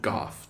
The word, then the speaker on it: Goff: How do you say his last name? Goff. G-O-F-F.